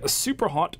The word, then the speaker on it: Superhot: is that the lead Superhot developer had an interview recently where he sort of hinted towards more Superhot, not just DLC, an actual fully fledged sequel. You're saying it wrong. It's super hot.